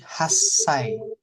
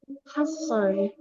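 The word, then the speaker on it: 八歳: Lihat nomor kalau 8 jadi Hasai. Dilebur dia. Hasai. Ini ada su kecil Oh, ini berlaku untuk semuanya. untuk nomor 8, untuk angka 8.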